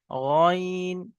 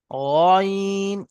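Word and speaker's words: غين: নুক্তা থেকে খালি হলে আইন, আর নুক্তা যুক্ত হলে গইন। এবং দুইটি অক্ষর 3 আলিফ করে টান হবে। নুক্তা যুক্ত হলে গইন, এবং গইন উচ্চারণ করার সময় ঠোঁট দুটো গোল হবে, স্টার আছে। গইন, গাইন হবে না।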